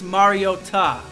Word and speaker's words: Mariota: a bunch of announcers were saying his last name wrong and she said it's Mariota so we're sticking with that Marcus Mariota Mariota